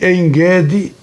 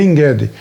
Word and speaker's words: En-Gedi: O Mar Grande aqui é o Mar Mediterrâneo, e En-Gedi é a pronúncia em hebraico, aqui a gente lê En-Gedi, mas é En-Gedi em hebraico.